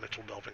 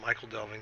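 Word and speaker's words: Michel Delving: I believe it's called Mitchell Delving. I used to pronounce it Michael Delving, and one of my friends who is a token aficionado.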